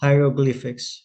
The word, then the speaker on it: hieroglyphics: Hieroglyphics. Hieroglyphics. Hieroglyphics. Hieroglyphics. Hieroglyphics. Okay. Hieroglyphics. Yeah. So, so h i e r. So, like hierarchy.